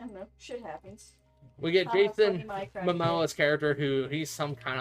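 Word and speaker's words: Momoa: I don't think I I'm pretty sure it's Jason Mimoa, ain't it? I always say Samoa. That's the It's the country.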